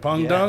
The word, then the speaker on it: Peng Dang: Peng Dung, that's how you say it? Yeah. And it's pronounced dung because you're the shit?